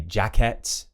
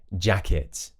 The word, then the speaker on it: jacket: So I hear a lot of people say jacket, bucket, so where they pronounce it as it's spelt with an ET. However, in British English, it's going to be it. So for example, instead of jacket, it's going to be jacket, bucket, rocket. So it, like it is, it.